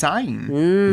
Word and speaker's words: Syne: Auld Lang Syne. Yeah, it's not said that way. Oh, you say it some way. It's a traditional Scottish. Syne. So it's Zayn.